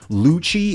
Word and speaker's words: Lucci: Like Lucci in One Piece. Growing up, I always called him Lucy.